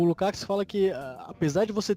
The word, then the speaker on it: Lukács: O autor que eu estudo hoje é um filósofo húngaro, já falecido, o George Lukács, ou Lukács, cada um pronuncia de um jeito.